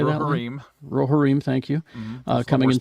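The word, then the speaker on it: Rohirrim: of the reform how do you say that rohareem thank you uh coming in 20 2024.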